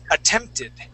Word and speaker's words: attempted: attempted yeah so that that e d at the end that is an ID sound okay this yeah this T changes to a d so one more time